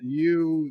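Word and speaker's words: Hugh: Apparently H-U-G-H is pronounced more like as opposed to Y-O-U.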